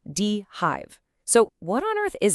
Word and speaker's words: dHive: And by the way, it's pronounced Dehive.